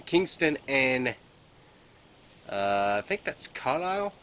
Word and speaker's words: Carlisle: So we got an outpost in Kingston and I think that's Carlisle. I think that's how you pronounce that. I think the S is silent, but if I'm wrong, let me know.